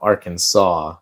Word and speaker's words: Arkansas: Because we were a state before Kansas and we're Arkansas, not Aran.